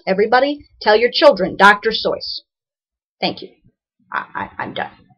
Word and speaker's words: Seuss: You're wrong as the deuce and you shouldn't rejoice if you're calling him Seuss. He pronounces it so. Aha. He pronounces it so. Everybody tell your children Dr. Soy.